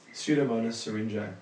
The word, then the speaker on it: Pseudomonas syringae: How do you pronounce it again? Pseudomonas syringae. Pseudomonas syringae.